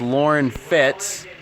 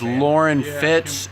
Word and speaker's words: Loren Fitts: It's Loren Fitts, LorenFitts.